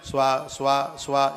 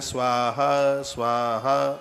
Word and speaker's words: स्वाहा: स्वा स्वा स्वा स्वा स्वा, बिल्कुल गलत है। सही उच्चारण है स्वाहा स्वाहा, और ज़्यादातर ऐसे आप सुनेंगे यज्ञ में यही उच्चारण होता है, स्वाहा स्वाहा स्वाहा।